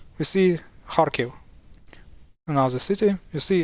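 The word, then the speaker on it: Харків: So you see KH here also stands for H, and that's why it's read as Kharkiv.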